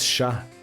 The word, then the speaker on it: chat: would be cat it's sha you don't pronounce the t right for cat it's